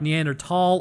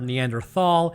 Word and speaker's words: Neanderthal: It's a lot like Neanderthal or Neanderthal. It doesn't matter whichever way you pronounce it.